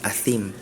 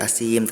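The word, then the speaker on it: أثيم: Yang pertama ada di surat Al-Mutaffifin tadi pada ayat 12, pada kalimat illa kullu mu'tadin athim. Tadi athimnya terdengar seperti huruf sin, ya, athim gitu. Tadi asim, tadi Ananda Aisyah bacanya.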